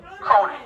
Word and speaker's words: Cronin: Cronin.